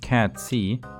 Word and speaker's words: Cait Sith: Cait Sith? So his name is pronounced Cat C, and according to Wikipedia, Cat C is a creature from Celtic mythology.